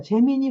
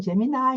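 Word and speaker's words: Gemini: 재미니 혹은 재미나이 이렇게 말합니다. 처음에는 재미니로 발음하다가 얘들이 요즘 재미나이로 바꿨어요. 그래서 재미나이 이렇게 하시면 되고요.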